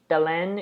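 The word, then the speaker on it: Belén: pronounce this wrong Bellen Bellen it's like Helen but with a B I I was saying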